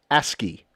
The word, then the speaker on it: ASCII: And it is pronounced ASCII.